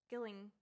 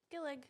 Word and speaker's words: Gillig: By Rachel Gillig. It is so good. Is it? I'm a fucking idiot. No, you're not. Yes, I am. I thought there was an N in that. Gilling. Oh. Gillig. Okay, well, Rachel, I'm so sorry.